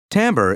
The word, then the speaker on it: timbre: tone or sound quality it's Timbre pronounced Timbre or Timber is the principal feature